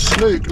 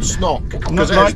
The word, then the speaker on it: snook: it's a short o when you have two o's together it's pronounced book like it's it's a long o so snook has two o so there it's snook not snok two snook bilard like